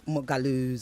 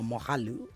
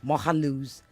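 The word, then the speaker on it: Moghalu: as you claim that Mogalu's or Mohalu, I must pronounce him properly, Mohalu's delegates or whatever, those invited, stayed 40 kilometers away.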